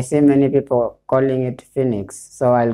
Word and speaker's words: Phoenix: you find many people I pronouncing it as pronouncing it as phonics but then I looked at the pronunciation I I see many people calling it Phoenix so I'll call it Phoenix so I'll talk about this from called Phoenix